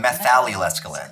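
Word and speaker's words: methallylescaline: It's called methallylescalin. I was saying it wrong. I missed the meth.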